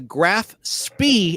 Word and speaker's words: Graf Spee: The German ship in question, the Graf Spee, S-P-E-E is how it's spelled, was indeed scuttled by her crew under orders from Captain Hans.